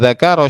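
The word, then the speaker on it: ذكر: Wa dzakara syaihu, jangan dibaca zikru ya. Ini bukan mubtada tapi fi'il.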